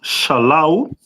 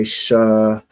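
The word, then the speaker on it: שְׂלָו: Quail is pronounced in the Hebrew as shalo. And uh you write it down like this. Hold on one second. Okay. Let me see right here. Okay. Shalah.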